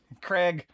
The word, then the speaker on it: Craig: How does Craig rhyme with egg? Because it does. Okay, that one I do know. Craig, like Daniel Craig. Craig.